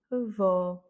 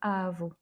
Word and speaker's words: avó: Donc ici, on a un accent sur le O, donc c'est avó, et non pas avo.